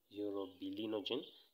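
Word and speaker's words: urobilinogen: you find um that there is urobilenogen europe be lino gene so you need to pronounce this one as well euro bilinogen you find it in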